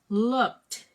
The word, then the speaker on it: looked: Looked. It's the same. It's T sound. Okay. Look. Yeah. So this sound, the ed becomes T. Okay.